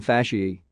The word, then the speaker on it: fasciae: A, N, O, E, are pronounced E, as in fasciae.